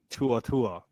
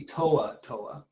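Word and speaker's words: To'oTo'o: apply to him Henry Tu Tua no nah h m close enough it's supposed to be TOA TOA TOA to Tua Tua I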